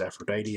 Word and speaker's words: Aphrodite: the Crimson Drive Aphrodite a lot of people don't know how to say her name correctly it's Aphrodite as in like the goddess of wealth um her effect is